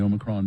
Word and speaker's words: Omicron: oh as in the Omicron variant it real the Oxford dictionary has several different ways to pronounce it but the preferred way is Omicron obicron Omicron Omicron I'm